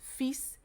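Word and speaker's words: vies: So when there is written V-I-S, it's just simply fish, fish. But if it's V-I-E-S, feast, means dirty.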